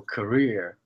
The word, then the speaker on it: career: So career, stress on the second part is your job, is your occupations, and not career.